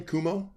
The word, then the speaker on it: Cuomo: How do you pronounce his name? Cuomo.